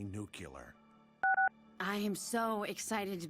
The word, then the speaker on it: nuclear: It's nuclear. Yeah, I know. Nuclear. You did it again. It's pronounced nuclear.